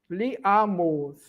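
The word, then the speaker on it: li amos: Lembrando que o o é fechado. Liamos.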